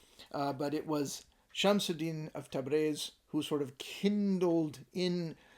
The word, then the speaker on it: Tabriz: The penultimate letter is either pronounced E or A, and the older classical pronunciation of Persian would be Tabriz. So people from South Asia, places like India, Pakistan, Bangladesh, always say Tabriz. Modern Iranian pronunciation is Tabriz.